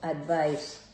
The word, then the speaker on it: advice: By the way, the last sound should be, the CE here should be pronounced S. So, advice.